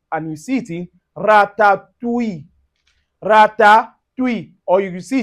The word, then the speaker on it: ratatouille: Now, for instance, you can find it in word like o u i double l e and you see it in ratatouille.